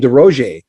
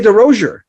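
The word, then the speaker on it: Derosier: By the way, I've been saying your name wrong my entire life, so sorry about that. I finally watching interviews and I'm going, oh, I had a friend named DeRozier, and that's how he said it. You're saying it right. Well, how come people say DeRozier?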